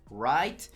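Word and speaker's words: write: Y es que la W es muda en el inglés antes de una letra R, ¿no?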